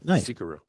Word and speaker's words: Xicaru: So that's that's where we we got the name Zikaru. Yeah. Always remember you pronounce the X like a Z.